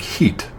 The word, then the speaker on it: Hit: Uh, it's spelled HIT, and it's pronounced in Arabic heat.